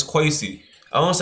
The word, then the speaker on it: Kwesi: My name been butchered probably a billion times and it's quy.